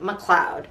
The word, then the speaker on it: McLeod: name yeah raymond r.j macleod his name is spelled m c l capital l e o d but you say it like macleod seems like all these